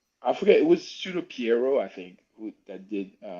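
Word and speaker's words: Pierrot: It's Piero, but the thing is, because it's French, a lot of people It's don't French. pronounce it, so they say Perio. And They say every time Perry. I hear it, I'm like, my You're ears, they're like, bruh, bleeding. It's Piero. Say it right.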